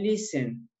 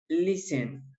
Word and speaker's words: listen: ver ustedes que dice el listón pero se pronuncian listen la techno suena en esta palabra ok en la pronunciación latte no suena solamente se dice lee sang ok lee sen el siguiente verbo y el verbo correr correr